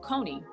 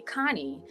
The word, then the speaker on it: Koni: so um you know my name is pronounced cone however um my sister um I I don't know which sister it was but my older sister was like you know she didn't like the pronunciation of my name and so she started calling me Connie and so like all